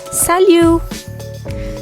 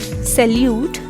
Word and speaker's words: salut: in french that is salu so that this is not salute this is salu all right so here